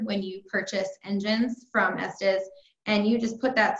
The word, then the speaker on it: Estes: you in Haiti that's really good and it's pronounced Estes I think I've been saying s T's bestest when I before I knew no I